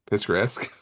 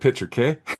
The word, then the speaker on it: picturesque: Picturesque? Picture. I almost said picture K.